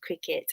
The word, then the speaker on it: Cricut: This cutting machine, it's called Cricut, CRICUT, pronounced cricket because it makes a cricket noise, the insect.